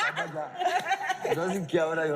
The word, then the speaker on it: Abuja: Especially, apart from the bluntness, like pronunciations and stuff, she wants to say I went to Abuja yesterday. And she says, I went to Abuja yesterday. It's Abuja.